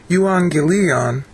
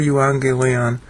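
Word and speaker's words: εὐαγγέλιον: What I'm doing is I'm searching on euangelion. Two G's are pronounced NG in Greek.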